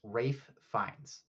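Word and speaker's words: Ralph Fiennes: It it's it's Rafe Fines. Oh, that's how it is. That's how you pronounce it. It's Rafe Fines.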